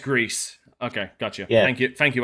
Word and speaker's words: Gris: pronounced Greece.